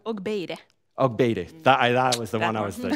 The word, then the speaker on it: Ogbaide: So Ogbaide from Finland, who is the founder of FEMA, pronounced it correctly, I think. Good, wasn't sure about the double M. Ogbaide.